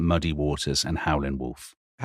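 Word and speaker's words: Howlin' Wolf: Howland Wolf. Howland. Howland Wolf. That's his name. That's an important part of the story, isn't it? You drop the G if you're a blues player.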